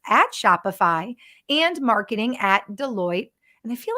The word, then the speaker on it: Deloitte: Is it Deloitte?